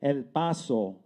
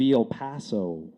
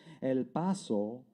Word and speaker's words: El Paso: For Claudia Tristan, the Latina newscaster who pronounced it El Paso instead of El Paso.